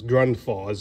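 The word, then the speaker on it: Grundfos: this i guess it's ground falls is how you pronounce it which is 220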